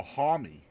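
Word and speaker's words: Homme: oh wait a minute he he says it rhymes with Mommy so homy Josh hom is dead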